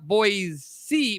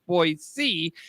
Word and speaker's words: Boise: it's kind of like Boise people call it boys see people call Boise when it's actually pronounced boy C Illinois is not then you know you're a